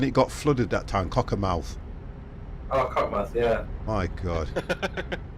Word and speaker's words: Cockermouth: Cockermouth. Oh, Cockmouth, yeah. My God. Well, the people from there that know it actually pronounce it the way you probably said it, Killer. Cockmouth. But everybody else, it's Cockermouth.